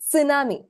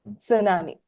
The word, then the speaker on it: tsunami: s so it's actually tsunami that's the right pronunciation that is the Japanese pronunciation tsunami the t is not silent you have to pronounce it sure hi all right